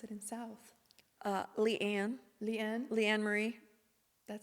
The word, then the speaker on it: LeAnne: How do you pronounce it in South? LeAnne.